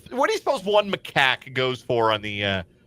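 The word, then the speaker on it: macaque: They were intercepted in a car carrying 81 Macaks near the Camb Cambodian border. A macac is a monkey. And uh you might have heard it pronounced as macock. Nope. Macak. I checked.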